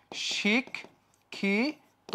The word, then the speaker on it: শিক্ষিত: যে ওকার হয়ে গেছে শিক্ষিত কি যুক্ত আছে ইত যুক্ত আছে তাহলে কি হয়ে যাবে শিক্ষিত এই যে ওকার হয়ে গেছে পঠিত শেষে কি যুক্ত